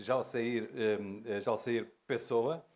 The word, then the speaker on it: Jalceyr Pessoa: Portanto, eu falo exatamente de Jalsair Pessoa, conforme há pouco me dizia, portanto, Jalsair Pessoa, assim se pronuncia, portanto, com o sotaque brasileiro, mas apenas um à parte.